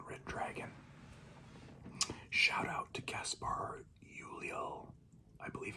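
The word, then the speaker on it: Gaspard Ulliel: Shout out to Gaspar Ulliel, I believe it's pronounced.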